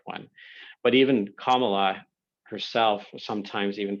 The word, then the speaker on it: Kamala: but the pronunciation i thought i had been pronouncing it right but it's comma law harris that's from what i understand to be the correct one but even kamala herself sometimes even pronounces her name quote incorrectly